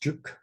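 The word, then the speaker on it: 竹: It means bamboo, and it's pronounced juk.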